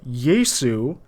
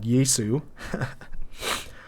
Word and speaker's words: Jesu: Jesu, pronounced Jesu, not Yesu, followed by a huge comma and expressive breath of intake.